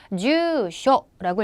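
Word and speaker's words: 住所: 주라는 음독으로 읽어서 여러분 주소 기억나시죠? 발음 어떻게 해라? 주쇼라고 읽었다고요.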